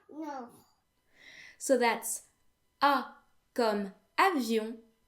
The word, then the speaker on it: avion: They all end in O-N, which in French makes the vowel sound n. This sound doesn't exist in English, so just so you know, the way it's pronounced is pretty much like the sound O, but instead it is nasal.